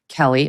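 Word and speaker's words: Keleigh: it featured miles and his wife whose name I think is Kaylee Keeley will listen to it Kelly okay Kelly but it's spelled weird anyway so the ad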